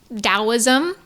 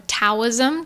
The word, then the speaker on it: Taoism: I've also read all of the Tao teaching, which is Dowoism or Taoism, depending on how you want to pronounce it.